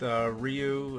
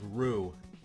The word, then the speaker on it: Ryu: the first, the pronunciation there with Ryu, like, you know, like, I think I still didn't get it right because I think it's like Rue. That's Oh, what really? it's supposed to Rue.